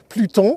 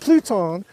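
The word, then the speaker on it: Plutón: Let's try a more advanced slope over here called Pluton. That's the American pronunciation. French, Pluton.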